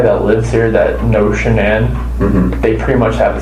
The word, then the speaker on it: Shanann: Amanda, anybody that lives here that knows Shanann, they pretty much have the same contact list.